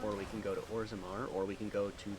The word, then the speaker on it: Orzammar: Is Ozamar, how do you say the dwarven city? Orzammar. Orzammar. Can we go there?